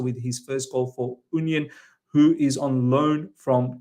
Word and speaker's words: Union: Next up, ladies and gentlemen, Union, actually it's pronounced Union.